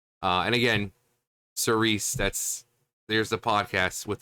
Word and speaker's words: Cirice: mythological figure but it's Cerise like sir Reese like Reese's uh and again Cerise that's there's the podcast